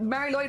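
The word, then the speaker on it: Mari Lwyd: a mar lyd a mar Lloyd yeah but it is it is said like Mar Lloyd yeah uh dear y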